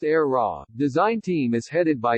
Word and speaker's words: AEHRA: no surprise perhaps given the era its pronounced era design team is headed